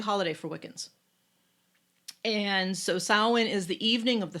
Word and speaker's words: Samhain: mother so it's based on the pagan holiday samhain which is spelled s-a-m-h-a-i-n but it's pronounced south oh shimara is gonna sound in on this